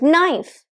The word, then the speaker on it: knife: take the particular word knife if you start pronouncing it like knife if you deliberately pronounce the k it's going to oppose your fluency try it out KN